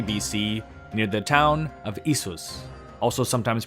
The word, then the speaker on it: Issus: The next great confrontation between the two sides took place in 333 BC near the town of Issus, also sometimes pronounced Isis, today in southwestern Turkey near the city of Iskenderun.